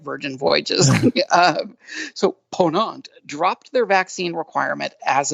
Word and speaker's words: Ponant: pronouncing that right Doug is it pawn it's a Pon on okay see I'm you know I need them all to have really simple names like virgin voyages so ponant dropped their vaccine requirement